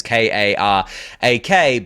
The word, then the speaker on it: Karak: I think one of them is called Karak or Karek. I don't know how to say it. It's Karak.